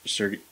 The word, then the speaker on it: Sergachev: Bet you wish he had made, I guess, Sergachev, how do you say that guy's name again?